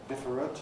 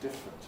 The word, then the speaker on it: different: I would say the same is true of different. I don't ever say different as far as I know, just different. It gets trickier with words